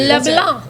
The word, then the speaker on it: LeBlanc: LeBlanc, say it correctly. Did I say LeBlanc. it right? No C, and you have to say it with a capital B in there, too. LeBlanc.